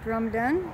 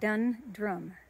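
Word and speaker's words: Dundrum: smell really good walk through drum done and uh no dun drum say it right and I stopped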